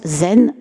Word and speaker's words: Zen: chan, et qu'en japonais, ce caractère chan en chinois se prononce zen en japonais.